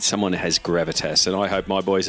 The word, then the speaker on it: Gravitas: League of Legends team in the OPL at Gravitas.